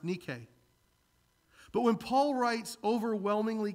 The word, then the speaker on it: Nike: You go into Foot Locker, you watch football this afternoon, you'll see, I promise you, it's Nike. It's actually pronounced Nike.